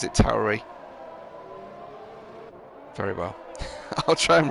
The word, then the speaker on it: Tauri: a word that um looks like it's pronounced tory in english but tauri i guess is the correct italian pronunciation why couldn't they stick